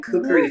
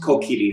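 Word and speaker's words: Kokiri: lot of collecting in cookery forest sorry i know it's correctly pronounced kokidi forest but i grew up calling it the creek forest i'm not going to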